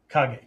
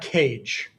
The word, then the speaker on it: Kage: Kage, not cage, okay? Some of my screen names, Kage 36, not cage 36, okay? The K is always, and the G in Japanese is always a hard G.